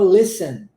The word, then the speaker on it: listen: não perde tempo em o t é mudo na palavra Listen Tá então não tem essa pronúncia do T A gente vai do S pro e Listen listen for listening for